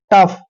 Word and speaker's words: tough: और यहाँ पे देखिए TOUGH, दोस्तों टी का उच्चारण हमेशा ट करते हैं और OUGH का उच्चारण फ करते हैं। टफ।